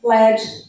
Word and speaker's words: lead: So there are words that may have different pronunciations depending on their meaning. An example, lead, the verb, where you guide, and led, the noun for the metal.